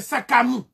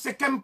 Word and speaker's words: Sekhem: Le Sekhem, en fait, c'est Sakamu. Mais on prononce Sekhem pour les égyptologues.